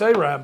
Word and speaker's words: Arab: getting a yes and we're getting that I pronounced it correctly it is oh it's aab all right aab you got to go through